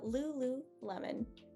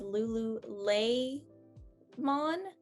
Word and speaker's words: lululemon: is lou lulu lemon lemon as in just the fruit like literally just the fruit it's right there and then lulu like a cute little nickname uh lulu lemon so um i hear a lot of people pronouncing this as lulu lay mon and uh you want to calm that e a little bit that e is gonna take away that y sound uh you're not gonna